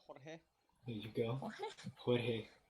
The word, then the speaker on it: Jorge: I mean, the only one I can guarantee is gonna be there is George, but George. Jorge. George. It's actually Yeah. pronounced Jorge.